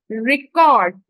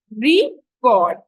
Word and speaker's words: record: when we talk about the word record so we are putting the more emphasis on the word read right so the stress is on the first syllable when it is a noun record and on the second syllable when it's a verb so cord here is